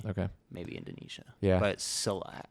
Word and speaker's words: Silat: How do you pronounce that? Silat.